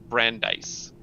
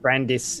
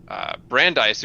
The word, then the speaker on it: Brandeis: building his name is Brandeis I really have been really I always pronounced it Brandis in my head but you know